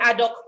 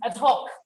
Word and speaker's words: ad hoc: those short-term committees and we say adopt committees in fact someone who had rockets haddock committee it is a talk at ad hoc committee a talk i think